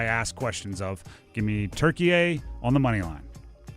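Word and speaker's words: Türkiye: I guess within the last couple years it's been revealed that Turkey is not how you pronounce that. It's Turkey A.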